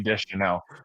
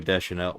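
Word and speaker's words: Deschanel: Is this Zoe Desanel? What? This Zoe Dutch? That's what it's spelled like Chanel. That's Chanel.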